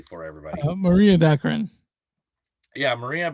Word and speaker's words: Baccarin: Maria Baccarin. Yeah, Maria Baccarin.